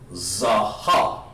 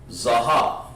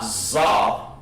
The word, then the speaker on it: zaha: are we saying here zaha zaha not zob but what would you